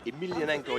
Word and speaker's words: Emelianenko: Yeah, he really wants to fight Fyodor Emelianenko. Yeah, that's the way you pronounce Or it.